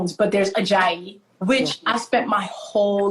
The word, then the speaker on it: Ajayi: And it literally is as it is spelled, Ajayi.